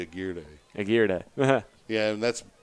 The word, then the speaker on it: Aguirre: based on experience that's a gear day though the pronunciation of the name yes it's unlike marker guar it's spelled the same way but around Central and South Texas generally a gear de Aguirre yeah yeah and